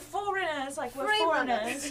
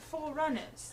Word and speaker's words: Foreigners: always wild and wait is it foreigners or is it four runners it's both it's pronounced foreigners like we're not from here I quite literally am